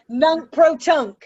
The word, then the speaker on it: nunc pro tunc: in the past, even though we did try nunc pro tunc.